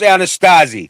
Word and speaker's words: Anasazi: It's pronounced Anasazi.